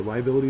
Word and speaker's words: liability: So liability is a noun. The third syllable is accented and it is a debt or something disadvantageous, something that's bad.